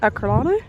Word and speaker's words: Ercolano: At uni, I swear it was pronounced Herculaneum, but it's definitely Ercolano.